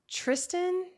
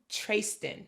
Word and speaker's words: Trayston: of friends, Wyatt, Bart, Tristan. It's not Tristan. It sounds like Tristan, but his name starts with a T. Oh, Trayston. Tray- Trayston. It's spelled trace and then s t i n, Trayston.